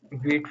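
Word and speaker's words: Vite: go with v okay V French word quick pronounce v like V it's a build tool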